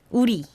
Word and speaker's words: 우리: I mean, Uli. it's not uli. Uli. Not uli. I know that in romanization it says uli, so it can seem like we pronounce it as uli, but uri.